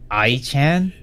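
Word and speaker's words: Ai-chan: I mean, the most notable VTuber is, of course, I-chan. That's how it's pronounced.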